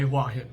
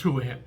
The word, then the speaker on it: Hua Hin: And the other is Hua Hin, which some people say Hua Hin because it looks like the Chinese word Hua, but it's Hua Hin.